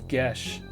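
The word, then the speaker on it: geas: what I speak hottest ghost I ever seen pronounce GES an Irish folklore an obligation to or prohibit uh magically imposed on a person prohibition sorry Bound by GES pette she's quite a lovely girl although a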